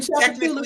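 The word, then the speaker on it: Tchoupitoulas: You ever seen Chapatoulas spelled out? The fuck is that? A who? Chapatoulas. Oh yeah. It's not spelled like it sounds.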